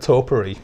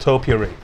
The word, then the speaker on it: topiary: said that word and i said it wrong and i said toppery which which is like boob toppery and there was like what and i meant topiary oh we struggle with